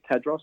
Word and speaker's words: Tadros: did really well it's it is tadros it's phonetic and yeah and it does it does sound like it's spelt and spelt like it sounds fantastic no i'm um